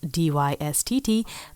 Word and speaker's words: Dystt: Today we are talking about the self-titled 2019 release by Costa Rican all-woman band Dystt, spelled D-Y-S-T-T, but it is pronounced Dystt, I asked.